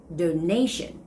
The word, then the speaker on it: donation: word is the noun form which is donation donation the stress goes on the second syllable the last one is